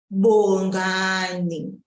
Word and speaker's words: Bongani: Bongani. Bongani, bongani. Note that I am pulling on the second syllable.